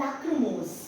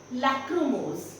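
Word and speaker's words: lachrymose: going to pronounce it this is called लक्र मोज लक्र मोज य जो एस है एस ई है इसमें ज की आवाज आएगी नाउ व्हाट डज लक्र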